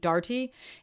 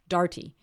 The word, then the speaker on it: Darty: And I would have definitely never said Darty. But she was like, no, it's Darty.